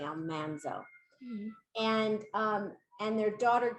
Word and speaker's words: Almanzo: about laura and her husband almanzo which is the correct pronunciation we called him almanzo on our show but it's actually almanzo and um and their